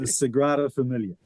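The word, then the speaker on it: Sagrada Família: Let's start with the pronunciation of that, Ryan. So it's the Sigrada Familia, which is obviously unfamiliar to you.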